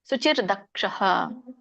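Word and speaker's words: ಶುಚಿರ್ದಕ್ಷಃ: ಉಚ್ಚಾರಣೆಯನ್ನ ತಿಳ್ಕೊಂಡು ಬರೋಣ ಅನಪೇಕ್ಷಹ ಸುಚಿರ್ದಕ್ಷಹ ಇಲ್ಲಿ ಸುಚಿರ್ ದಕ್ಷ ಬಿಡಿಸಿದಾಗ ಸುಚಿಹಿ ದಕ್ಷ ಅನ್ನುವಂತ ಎರಡು ಪದಗಳಾಗುತ್ತೆ ನೀವು ಹಾಗೆ ಹೇಳಿ ಸುಚಿರ್ದಕ್ಷಹ ಉದಾಸೀನೋ ಗತವ್ಯತಹ ಸರ್ವಾರಂಭ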